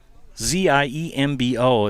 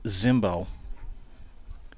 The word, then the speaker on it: Zimbo: b o it's pronounced Zimbo when I was in The Dugout getting the the lineups he said it's you know when you see that name with the Z It's pronounced Zimbo so I made sure